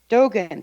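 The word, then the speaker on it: Dōgen: And Dogen, is that the way you say his name? Dogen, thank you.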